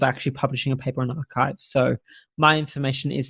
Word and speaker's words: arXiv: Astronomy has this fantastic website called Archive, where anyone, it's spelled ARXIV.